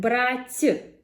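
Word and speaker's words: брать: For example, we have brat, brother, with the hard t, and brat, to take, with a soft t.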